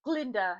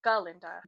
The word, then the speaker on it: Galinda: Dillamond's death, because the first time they met each other, he mispronounced her name, saying Glinda instead of Galinda.